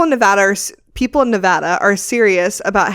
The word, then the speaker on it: Nevada: wrong and they're out this is how you say it Nevada not Nevada oh that made me